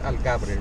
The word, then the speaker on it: Algarve: So we're here at the Autódromo Internacional del Algarve, right?